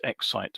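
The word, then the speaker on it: XYT: I had to work out how to pronounce that, of course, because it's actually spelled um XY T, but obviously Exite is how it's supposed to be pronounced.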